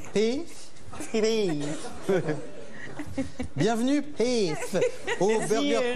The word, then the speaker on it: Pef: Et comment on prononce en fait Pef ou Peuf? Pif. Pef.